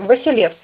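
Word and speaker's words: Василевс: Титул византийских императоров произносился только с начальным «В» – Василев, что показывает происхождение Грозного от византийского императора по мужской линии, что так и есть.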